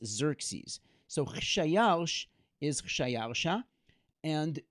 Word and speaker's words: Xerxes: And I'd like to pause there for just a moment and tell you the story of how we know that Xerxes is Achashverosh.